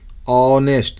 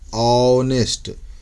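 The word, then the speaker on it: honest: ऑनेस्ट, देखिए आ गया, ऑनेस्ट, तो एन ऑनेस्ट।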